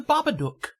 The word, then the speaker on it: Babadook: yeah it was the babadook thank you thank you this is very important it rhymes with look and book so if you if